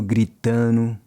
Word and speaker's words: gritando: Then he goes, todo mundo gritando, everyone yelling. Notice how he drops the D in gritando.